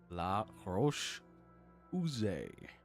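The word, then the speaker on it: La Roche-Posay: How to pronounce? Okay. Oh, it's muted, is it? Yeah. He says the same thing. La Roche Posay.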